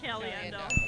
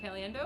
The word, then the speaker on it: Caliendo: Frank Cali. Frank Caliendo. Well, that's Frank Cali. Of course. Frank Caliendo. That's Frank Cali. Looks like Caliendo. Yeah. Frank Caliendo. That's correct. Yeah. That's Frank Caliendo, walk south graduate.